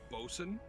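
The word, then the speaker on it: boatswain: Just like the word bosun is spelled botswain.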